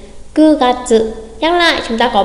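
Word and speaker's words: 九月: Và tháng 9 không đọc là Kyu mà sẽ đọc là Ku Gatsu. Ku Gatsu.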